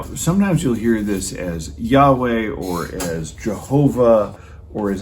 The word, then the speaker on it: Yahweh: so we put the vowels in it gets pronounced yahweh sometimes you'll hear that as jehovah and that's